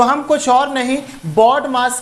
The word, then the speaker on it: BODMAS: बडमास लिखा है इसको बदमाश नहीं पढ़ना है। ठीक है? इसको बदमाश नहीं पढ़ना है। इतना ध्यान रखो। सबसे पहले प्रोनाउंसिएशन पे काम करो। इसको बडमास पढ़ना है और इसका सारा मतलब